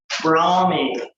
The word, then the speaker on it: Brahmi: And this is called Brahmi. Brahmi, B-R-A-H-M-I. And when you see that spelling, you think Indian. Brahmi. Yeah. Spell it again?